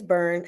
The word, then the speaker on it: Byrne: And the last name is Byrne, as in David Byrne, for those who need to know how to pronounce John's name.